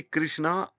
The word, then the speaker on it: कृष्ण: इसी प्रकार से हम कृष्ण को राम को रामा कृष्णा महाभारता। ऐसे बोलते हैं। ऐसे तो अंग्रेजी में नहीं बोलते। जैसे हम बोल लेते हैं। यह गलत है। कृष्ण को कृष्णा कहने से तो अर्थ का ही अनर्थ हो जाता है क्योंकि कृष्णा द्रोपदी का नाम था।